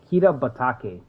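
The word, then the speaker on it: Kitabatake: Kita. See, I said Kido. Kita Batake.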